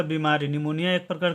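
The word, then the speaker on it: pneumonia: नाम है ठीक है तो देखिए इसमें तो आगे पी लिखा हुआ है तो इसको मैंने पी का कहां उच्चारण किया इसमें तो मैंने पी का कोई उच्चारण नहीं किया ठीक है तो पी जो होता है है इस वर्ड में साइलेंट होता है पी जो होता है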